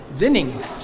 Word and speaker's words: Xining: Xining. Xining, China. This is halfway between Beijing and Lhasa, Tibet, where we're going. We just got off about a 24-hour train ride, and we've got 8 hours in Xining, and then we'll be back on another 24-hour